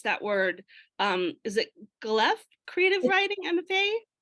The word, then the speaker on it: Guelph: the University of, I'm not sure how to pronounce that word. Is it Guelph Creative Writing MFA? It's close, Guelph.